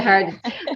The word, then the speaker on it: Harden: We have Lydia Harden on the show today. Lydia Harden, sorry. No worries. Lydia Harden. That's how you pronounce it, isn't it, Lydia?